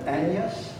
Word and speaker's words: Agnes: you know back then agnes was probably pronounced with a sort of silent g like an aneus and that becomes an